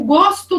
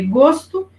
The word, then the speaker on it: gosto: um pouquinho diferente né porque gosto e gosto o ou aberto e o ou fechado né agora os homônimos que